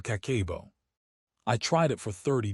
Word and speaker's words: Kakeibo: Kakebo, pronounced Kakebo, translates simply to household financial ledger.